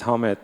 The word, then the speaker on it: Ahmed: digital technology and will be presented by a Ahmed. Sorry, mispronounced for sure. Thanks guys for uh coming for my presentation. Um first of all, my name is Hmed.